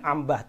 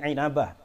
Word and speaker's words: Inabah: Ibnu inabah inabah inabah bahasanya bacanya jangan Ambah tapi inabah wafat 828 Hijriah dalam